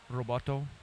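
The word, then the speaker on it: ロボット: And I know they pronounce in Japanese Roboto.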